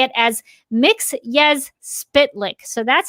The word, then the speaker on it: Mxyzptlk: He actually pronounces it Mxyzptlk, like the Super Friends version. Mixy he actually physically comes out of the comic strip into the real world and corrects him to say it as Mxyzptlk.